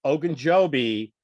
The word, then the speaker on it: Ogunjobi: So The other thing is Ogunjobi signed with the Yeah, Steelers.